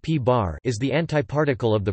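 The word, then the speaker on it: p̄: The antiproton, P, pronounced P-bar, is the antiparticle of the proton.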